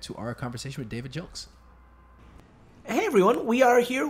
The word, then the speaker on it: Gilks: I may have mispronounced his name. I thought it was Gilks. I think it's Gilks. That's what he pronounced.